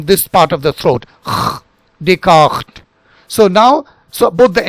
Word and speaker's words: Descartes: So you now understand that it is not Rene Descartes, it is Rene Descartes, Rene Descartes, Rene Descartes, but that GH sound should be very silent.